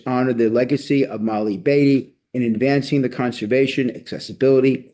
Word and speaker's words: Batty: And by the way she pronounced it Batty not bey as an FYI for everybody.